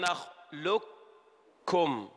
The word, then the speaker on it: نخلقكم: في موضع واحد في سورة المرسلات يقول ربنا تبارك وتعالى ألم نخلقكم. اسمع، نخلقكم. أين القاف؟ أدغمت إدغاما كاملا، ننطق كافا فقط.